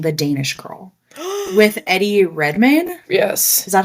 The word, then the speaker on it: Redmayne: I was gonna bring up my first relative experience with drag was watching The Danish Girl with Eddie Redmayne. Yes. Is that how you pronounce his last Eddie name?